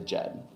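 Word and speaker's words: Djed: Jed started Superior Installation in 1985 and continued to run the company in different phases of success until his death.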